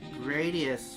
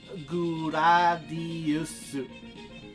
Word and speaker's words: Gradius: What about Gradius? When I was young, I always pronounced it Gradius.